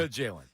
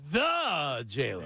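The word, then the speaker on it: The Jalen: The Jayen. And it's the Jayen. Make sure you put a little stank on it. The It's like WBC. You're not saying it right. The Jaylen.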